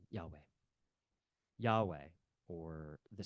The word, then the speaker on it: Yahweh: name for God is spelled with the letters yod V and that would be pronounced um Yahweh yah or the sound